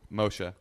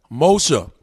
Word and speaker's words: Moshe: Moshe. Moshe. Yep. All right. I've been trying to remember it the whole interview. Yeah, no, I know. But it sounds like motion.